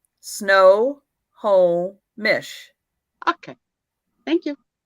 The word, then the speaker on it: Snohomish: photo all right honey how do you pronounce that first tone snohomish snow whole mish okay thank you